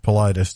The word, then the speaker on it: Politis: It's pronounced Politis, just like you said.